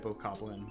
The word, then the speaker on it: Bokoblin: I think Bokoblin's the right way to say that, because it's not Bokoblin. I think I have a bad habit of saying Bokoblin, but I think it's Bokoblin. That sounds like Goblin. That sounds like the correct way to say it.